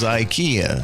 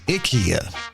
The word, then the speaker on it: IKEA: First up, uh what we thought was IKEA. They're saying the right way to pronounce is Ikia.